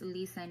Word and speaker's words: Lee: didn't know about me the correct way to pronounce my name is Lee and I don't have